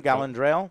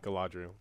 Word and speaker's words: Galadriel: into uh how do you say her name gallandrail galadriel galadriel galadriel and they they're on this wrecked